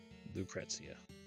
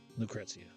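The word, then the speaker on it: Lucrecia: Vincent Valentine, formerly of the Turks, formerly a soldier Lucretzia. At least that's how they say it in Dura Serpus. So that's what I say. Lucretzia, the woman who actually gave birth to him.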